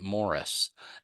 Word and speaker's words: Maurice: Maurice Austin. I even note that they pronounced it Morris.